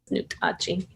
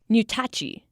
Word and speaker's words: Nutachi: Kenitha Greenwood also shared with me the original pronunciation of what the Missouri people called themselves. Nutachi. Nutachi. That's pretty far from Missouri,